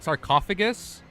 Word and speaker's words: sarcophagus: The proper pronunciation is called It's a fucking sarcophagus.